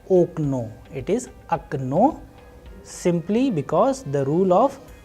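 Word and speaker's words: окно: Especially in this last word, we have a very different pronunciation. You know why? Because here the role of stress or udareniye is playing a vital role, and clearly the sound is changing.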